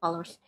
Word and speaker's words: Focalors: Is this Fossilors? No wait. The pronunciation, I checked the French translation, it's called Focalors, so I'm going to go with Focalors.